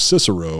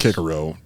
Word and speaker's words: Cicero: That's the wrong way to pronounce it. To be perfectly it's the honest, modern way to pronounce it, right? it's the modern way to pronounce it is to say Cicero, but it would actually be Cicero.